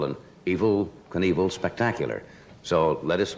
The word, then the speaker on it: Evel: It's not E-V-I-L, evil. Yes. It's E-V-E-L. I suppose he pronounces it Evel, does he not? I think he says evil.